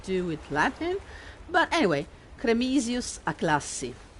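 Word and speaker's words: Cremisius Aclassi: with latin but anyway cremisius a classif that would be cremisus aklasi in an italian latin sounding pronunciation but i prefer it with a bit of a anglo-saxon lilt to it promises sounds nicer i don't know why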